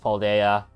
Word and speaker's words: Paldea: So, that is quite funny that it's pronounced Paldea.